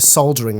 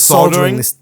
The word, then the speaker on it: soldering: Um don't you mean this soldering? American audience will be very unhappy to hear you pronounce not allowed to say L. Soldering. Yeah. No, it's like salmon.